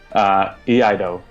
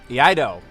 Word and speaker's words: Iaido: Iaido. Iaido. Yeah. It's like Taeha. Yeah. Now that I know Japanese. How it's pronounced, I will hopefully remember it.